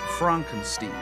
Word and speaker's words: Frankenstein: My name. It's pronounced Froonkensteen. You must be Igor.